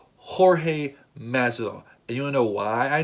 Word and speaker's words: Jorge: got Jorge Maslow yes yes yes it is pronounced Jorge Maslow anyone know why I know that because